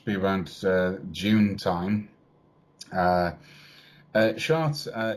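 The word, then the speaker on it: Chartres: year um should be around june time uh charts uh it's spelt c-h-a-r-t-r-e-s uh it's a very old very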